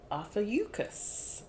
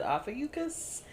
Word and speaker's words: Ophiuchus: an article that said Ophiuchus. And so I'm like, okay, are we pronouncing the U? Okay, we're pronouncing the U.